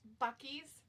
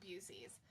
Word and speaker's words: Buc-ee's: Was it called Buckley's? Buc-ee's. Oh, Buc-ee. Buc-ee's. It's like this, or Busey's. I mean, some people pronounce it Busey's, but I guess like they have awesome food too.